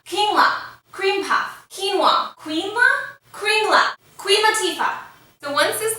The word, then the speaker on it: Kringlar: It's called Kringlar. Kringlar. Kringlar. Very close. Kringlar. Kringlar. Cream puff. Quinoa. Quinoa? Kringlar.